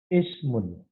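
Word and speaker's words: اِسْمٌ: Sedangkan kata benda ismun, maka akan kita baca ismun, karena pada sin disukun.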